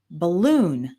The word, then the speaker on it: balloon: We have words like guitar, hotel, balloon. Those are all two-syllable nouns with the stress on the second syllable.